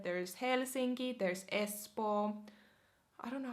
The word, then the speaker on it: Espoo: You would pronounce that Espoo. Espoo. Espoo.